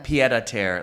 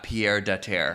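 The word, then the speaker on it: pied-à-terre: Yeah, So we're learning a lot about pronunciation these days. Leon. And it's Yeah. pied à terre, Lisa, not Pierre de terre.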